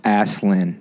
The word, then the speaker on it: Aslan: She said pronounced Aslan.